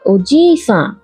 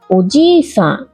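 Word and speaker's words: おじいさん: দাদুকে ডাকা হয় ওজি-সান ওজি-সান। দিদা হলেন ওবা-সান ওবা-সান। দাদু দিদার ক্ষেত্রে জি আর বা দীর্ঘ উচ্চারণ হবে, বলার সময় খেয়াল রাখবেন।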